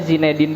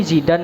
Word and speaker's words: Zinedine: sulit nih Kayak misalnya Nama saya zinedin Kalau ditulis Itu Zinedine nah Zinedine ini Kadang orang bacanya ini Zidan ya Atau enggak ini zindin ya atau apa Nah itu tuh